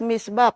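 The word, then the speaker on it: mitzvah: Misba is it is pronounced as misba pero iyung spelling niya o m i s w a h.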